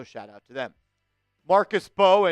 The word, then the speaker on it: Mbow: Marcus Mbow, and it is Mbow. The M is silent, so don't be the people that go around saying, the Giants drafted Marcus Mbow. Don't be that guy.